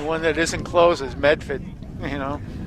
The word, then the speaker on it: Medford: The only one that isn't close is Medford. You know, That's Metha. Meffa, Say it right.